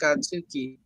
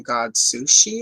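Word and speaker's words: Godzooky: And my grandma would mispronounce Godzuki's name and I would get mad. That's not his name. It's Godsuki. I think she kept calling him God Sushi or something.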